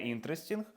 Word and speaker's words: interesting: І також інтере не interesting, а in resting.